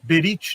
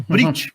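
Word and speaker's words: ברית: Berit, né? Ou Brit, como eles pronunciam no hebraico moderno.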